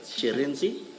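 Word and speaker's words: Shirindzi: Shereni she Yes.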